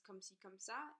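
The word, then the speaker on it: comme ci, comme ça: for five years so that pronunciation was so offensive the real way to say it is come see come saw and it basically means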